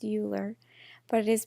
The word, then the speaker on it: Euler: circuits I know you think that it's pronounced Euler but it is pronounced Euler an Euler path is a path that visits